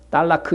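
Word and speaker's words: طلاق: 딸라크 이렇게 발음이 보통 들리는 것 같은데, 딸라크인데, 어제 이혼과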